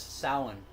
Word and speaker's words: Samhain: Merits, yes, Samhain.